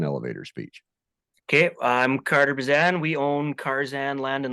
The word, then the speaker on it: Bezan: Bezan. Carter. It gets screwed up all the time. It's Bezan. I definitely would have got that wrong. So Carter Bazan, welcome to Ranching Reboot.